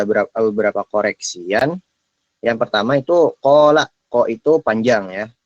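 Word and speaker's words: قال: Yang pertama itu qala, ko itu panjang ya. Ko itu panjang. Karena di setelah ko, huruf ko ada alif. Jadi 2 harokat gitu.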